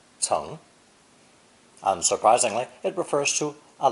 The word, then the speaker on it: 层: Our second character is a drawing of this upper layer of sod, and is also pronounced second tone ceng, ceng.